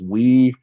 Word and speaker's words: weeaboo: I'll spell it for you guys. It's weeboo.